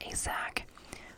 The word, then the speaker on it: ASAC: to our sac asac pronounced asac or assistant special agent in charge tom nally tom calls